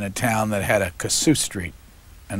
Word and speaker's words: Kossuth: was he he was how do you really pronounce it go shoot he was really the